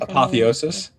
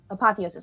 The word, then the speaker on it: apotheosis: Apotheosis. Apotheosis.